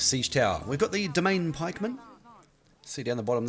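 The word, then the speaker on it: demesne: tower we've got the domain pikeman see down the bottom there that d-e-m-e-s-n-e is actually pronounced domain so uh cannons make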